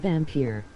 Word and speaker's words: Vampyr: Funny how it still says vampire even when I spell it vampyr. Yeah. Oh. Did you have to do PWER there? Yeah. Yeah, I know. It's definitely pronounced Vampyr.